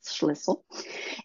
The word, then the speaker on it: Schlissel: I almost rhymes with whistle, Schlissel.